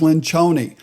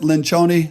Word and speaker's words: Lencioni: broadcasting an interview the interview is with Patrick Lynch Oni some of you know him as Patrick Lencioni or other things but he pronounces it Lynch Oni so I'm going to go with his interpretation